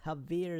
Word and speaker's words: Javier: So Javier is how you pronounce her name.